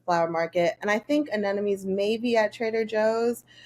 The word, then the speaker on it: anemone: Adenome, sure. Anemone. Where Yeah. would you find these? Definitely the long one would be at the flower market, and I think anemones may be at Trader Joe's.